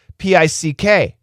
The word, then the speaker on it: pick: P I C K.